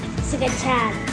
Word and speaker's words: scacciata: Well, we're making scacciata. Scacciata. Say it like real Italian, like scacciata.